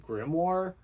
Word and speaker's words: grimoire: I think it's like grimoire. It's like grimoire is like it's pronounced.